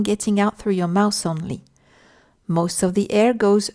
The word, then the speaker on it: on: On is a nasal sound that you pronounce almost like a O shape with your lips.